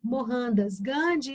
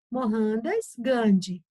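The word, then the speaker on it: Mohandas Gandhi: lendo com dois RS mohandas gande tá bom e depois a pronúncia de Mahatma gandi a mesma coisa o h lá para eles tem aqui para nós o som de dois rs eu já sa bom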